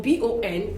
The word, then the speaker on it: bon: Okay, for B-O-N, when it's bonjour, for the B-O-N, we do not pronounce the N, really. We just nasalize and say bon, and so we say bonjour.